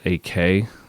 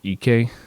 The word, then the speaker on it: Ek: it was led by Daniel AK or EK I think is how you say his name correctly but uh it's uh